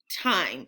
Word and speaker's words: time: Or this word, I'm, time. And we're not pronouncing that E at the end. We're going to call it a magic E. That means that it disappears. It's silent. Next one, ice, dice.